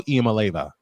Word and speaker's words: Iamaleava: Nico Iamaleava.